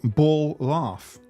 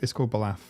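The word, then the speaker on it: Ballaugh: But it's called Balaf. You pronounce the Laugh as Laff, if you will. It's like pronounced with double F, even though it's not written that way.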